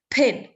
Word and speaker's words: pain: PIN PIN gitu ya Tapi harusnya Pain ada h-nya itu Iya Dia itu eksosif gitu ya ya P i i-nya juga rada e e jadi pin gitu Ya nah tapi kalau